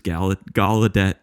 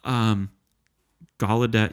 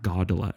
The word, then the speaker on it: Gallaudet: Gallaudet University. Am I saying it right? Yeah. It's not Gaudelet, right? It's the G-A-L first.